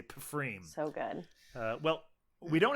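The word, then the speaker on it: Pfriem: It was from Freem, or maybe it's just pronounced Freem. Yeah, Freem, I think. It's a silent P. Yeah. But I just want to say Pfreem.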